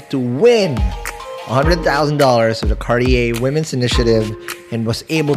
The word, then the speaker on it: Cartier: will share how she was able to win $100,000 of the Cartier Women's Initiative and was able to bring pride